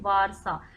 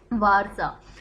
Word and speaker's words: Warsaw: Poland की capital है भाई वारसा, WARSAW, वारसा।